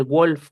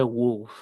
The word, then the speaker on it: wolf: No se dice wolf con O de ombligo. En inglés se dice wolf con U.